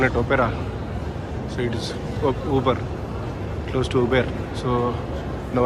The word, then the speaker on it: Auber: This is Uber, not Auber. I was pronouncing it as Auber.